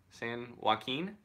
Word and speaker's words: San Joaquin: how to say this sanjaya Keane you're Keane San Joaquin Joaquin man I'm so bad at languages thanks Ryan that was dope no problem JP he had written half the night from far down San Joaquin through Mariposa I know that one through Mariposa